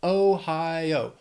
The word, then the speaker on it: Ohio: Then Ohio, 3 syllables, stress is on that second syllable, Ohio. Ohio.